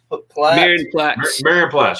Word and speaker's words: Marienplatz: And then one more I saw was I probably won't say it right, but it's one of the squares that they have. It starts with an M. Marienplatz. Marienplatz. Yep, that's right there where the Glockenspiel is located.